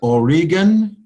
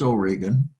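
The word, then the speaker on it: Origen: is also remarked by origin who wasn't early what we call a church father but more of a Nazarene style from France Oregon some people pronounce it origin but it's O'Regan and Jerome the translator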